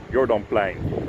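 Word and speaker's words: Jourdanplein: Welcome to Place du Jordan, or Jordanplein if you want to pronounce it in Dutch.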